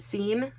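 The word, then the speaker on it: Seine: I know that this is pronounced Scene, like the river Scene.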